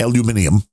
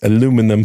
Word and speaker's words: aluminum: Um, aluminium. Yeah, it's aluminum. Thank you very much. Aluminium. Misspelling of aluminum. That's documented. Yes. Aluminium. The British misspelled the word and then kept pronouncing it the wrong way.